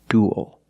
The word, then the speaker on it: duel: And it ends with a dark L, because the L is after a vowel at the end of a word. Duel. This is a duel.